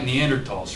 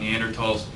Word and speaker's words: Neanderthals: than humans except like Neanderthals right so you guys know about Neanderthals and there should be at all not at all right so just like the H is silent just to throw that